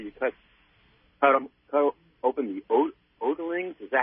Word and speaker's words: otoliths: Otoliths, is that how you pronounce it? Otoliths, that means ear stone.